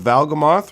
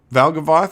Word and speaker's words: Valgavoth: You've got the little butterfly moths here to represent the metamorphosis of Valgamoth, right? Valgavoth. I say his name wrong all the time.